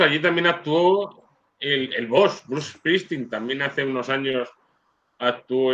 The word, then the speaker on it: Bruce Springsteen: Porque tengo un amigo me dice, Gavin, ¿te gusta Bruce Sprinty? Y yo digo, no sé quién es. ¿Bruce Sprinty? No sé quién es. Ah, Bruce Springsteen. Y ahora me viene siempre y me dice, Bruce Springsteen.